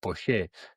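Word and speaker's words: Poyet: Gus, give us the correct pronunciation. Poche.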